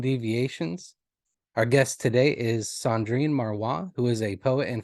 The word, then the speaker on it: Cendrine Marrouat: to be clear um your name is pronounced uh Sandrine marwa is that wow very good Wow